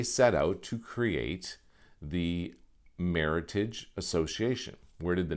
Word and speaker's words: Meritage: and they called it meritage so that's why you can't pronounce it the meritage because well for one thing you're making it sound french and that's exactly the